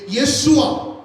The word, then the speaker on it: यीशुआ: यीशु जो शब्द है, ये एक इब्रानी शब्द से आया है, जिसको हम बोलते हैं, जिसका उच्चारण इस प्रकार से है, यीशुआ, जिसको हम बोलते हैं इब्रानी शब्द से आया है।